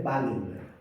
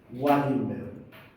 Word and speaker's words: Wallenberg: clínica que se llama, no se llama el síndrome de Ballenberg o Wenberg, se escribe con el doble, Wallenberg, ya aparece, por eso